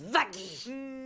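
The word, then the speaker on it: Vaggie: Une bonne fois pour toute ça se prononce Vagy.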